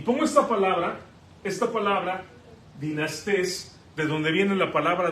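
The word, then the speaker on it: δυνάστης: Y pongo esta palabra, dinastés, de donde viene la palabra dinastía. Aquí está en griego, aquí es como lo podemos pronunciar, dinastés.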